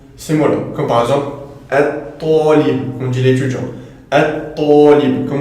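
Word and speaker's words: الطالب: Comme par exemple at-talib, on dit l'étudiant.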